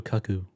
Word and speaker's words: cuckoo: you gotta watch loose is it cucko or caku it's C no it's cuckoo it's like a cuckoo bird cuckoo I guess so